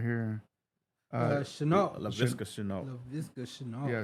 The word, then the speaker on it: Chenault: And your top receiver, man, I can't even pronounce this name right here. Chenault. Laviska Chenault. Yeah, Chenault.